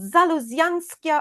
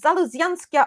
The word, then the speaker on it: Zaluzianskya: Well, it's called the night phlox, but it's called Zaluzianskya. I think it's called Zaluzianskya ovata. I think it's very easy for me to pronounce because it's named after Eastern European botanist Yeah. Adam Zaluziansky, I think.